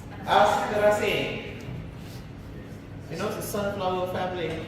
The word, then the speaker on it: Asteraceae: Oh, I use British pronunciation. You call it Asteraceae.